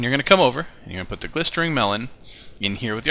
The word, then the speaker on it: glistering: this potion is a glistering melon um and yes that is correctly pronounced I had to look it up a couple of times and it is not glistening it's an r i don't if it's